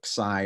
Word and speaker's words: xi: Some people say xi on this too. So xi or xi depends on how you're pronouncing the I on this sound.